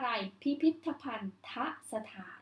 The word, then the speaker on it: พิพิธภัณฑสถาน: อ่ะ เชื่อม นะ คะ ก็ จะ อ่าน ออก เสียง จะ เชื่อม ได้ ว่า อะไร พิพิธภัณฑสถาน เห็น ไหม คะ ออก เสียง อาบ